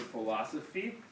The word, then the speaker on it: philosophy: In English you spell the F sound with PH. And that's because it comes from Greek. Because in Greek there's a letter for F that kind of is like a PH, I think. Pretty sure that's why. But in English, when we take words from Greek, we use PH for F. Like pharmacy, same thing. We spell it with PH, and it makes an F sound.